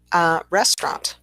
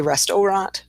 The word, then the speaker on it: restaurant: And then we have restaurant. Of course, the middle syllable in this one is dropped. So we don't say restaurant, we say restaurant.